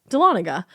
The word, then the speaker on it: Dahlonega: The story takes place in a town called, thank you so much for the pronunciation because that's intimidating. That is intimidating. Dahlonega? Yep. Dahlonega, Dahlonega.